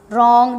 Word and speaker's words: wrong: The next one is wrong deed, wrong deed. As you can see that W is silent here and it's a consonant word, but R is also consonant in wrong.